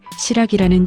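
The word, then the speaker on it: 新羅: 일본의 여러 지역에 시라기라는 지명이 남아있는데 시라기는 신라의 일본식 발음입니다.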